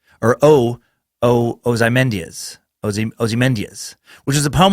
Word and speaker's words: Ozymandias: Most notably to me is her poem, and it's Ozymandias. I believe it's how you say it. It's a fucking tricky word. Ozymandias. Or Ozymandias.